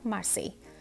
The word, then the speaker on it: Marseille: तो मेरा पहला शहर है मार्सेई। जी हाँ, इसको ऐसे ही प्रोनाउंस करते हैं, मार्सेई।